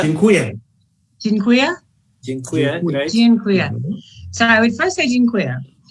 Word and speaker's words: Dziękuję: How do you say thank you? Dziękuję.